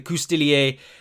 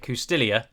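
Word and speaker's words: coustillier: definitive edition's latest dlc the kustilier um which is as i understand it how you pronounce that although every single youtube channel i have i've watched so far has pronounced it kustilia um but i'm fairly certain that in the french it would be kustilier anyway um i was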